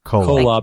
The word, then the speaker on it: Kolob: How is that pronounced? Kolob? Kolob.